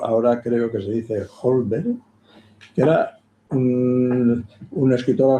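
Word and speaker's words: Holmberg: Creo que ahora decimos Holber, no sé si por buenas si bien pronunciado, yo creo que en la época se decía Olver.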